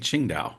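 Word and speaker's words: Qingdao: revolutionary do you mean you mean Ching da uh q i n g not so it's spelled differently to the beer right it's Ching da though it is that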